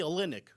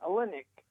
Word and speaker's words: Olynyk: are but a team kelly i can't even pronounce this name o l y n ny you mean kelly olynyk yeah olynyk he signed three years he signed with detroit